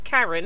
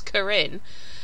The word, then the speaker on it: Karin: Your surname ain't Karen, is it? It's Karin.